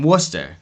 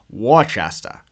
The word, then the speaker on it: Worcester: was actually born in Worcester and if you're not from Massachusetts you'll probably pronounce it War Chasta but anyways he was